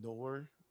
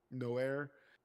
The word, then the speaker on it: Noir: which was fucking great movie, and his character, which was the Nor is that how you pronounce it, Nor? No air. Noir, Noir Spider, like it fits his character.